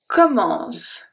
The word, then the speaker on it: commence: So the last letter that I pronounce is, for the last sound that I pronounce, is a S. So the E is silent. The E is just there to make the C into S.